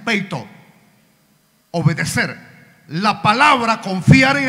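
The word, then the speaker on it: πείθω: La palabra obedecer en el griego es peito. Así se pronuncia, peito.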